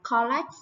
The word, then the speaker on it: collect: Các bạn hay phát âm từ này là collect đúng không nào? Collect là phiên âm chữ O là sai nhé. Từ này được phiên âm là ơ ngắn nè. Các bạn phải đọc là collect. Collect.